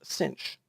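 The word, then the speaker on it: sinh: are still very different hyperbolic sine is pronounced cinch hyperbolic cosine is pronounced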